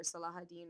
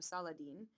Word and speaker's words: Saladin: but very shortly thereafter the Muslim leader salahadin or Saladin uh both acceptable pronunciations Salah saladine of Egypt